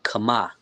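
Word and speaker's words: חמאה: Okay, next over to the young man we have butter. Lock that will be kama. So ka and the last part is actually another a right.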